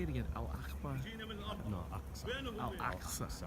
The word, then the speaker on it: Al-Aqsa: Al-Aqsa. Al-Aqsa. AQSA. There it is. I'm going to say it on camera so I have it. Al-Aqsa Mosque. Al-Aqsa Mosque. This is the Al-Aqsa Mosque?